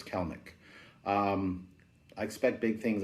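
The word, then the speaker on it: Kelenic: for that love that card jared kellnick it's pronounced celnic it's not kalanick even though it's how you think you should say it it's actually kalnik i've asked him it's kellnick um i expect big things out of him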